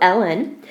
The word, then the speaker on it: ln: log is actually Ln okay log natural they pronounce it natural log so Ellen and it has a separate base it does